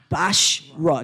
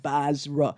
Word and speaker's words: Bashra: Because every time I say that, I keep thinking of Basra, right? But make Bashra, not Basra.